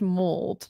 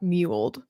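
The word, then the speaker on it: mulled: It's pronounced mold, not muled.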